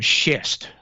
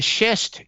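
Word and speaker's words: schist: Uh it's all made from shist. That is spelled s c h i s t. Uh, and the shist came from one of two places.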